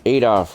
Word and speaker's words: Adolf: Adolf rhymes with Azov.